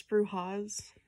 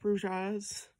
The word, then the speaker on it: Brujas: Turns out it's Brujas, not Bruges.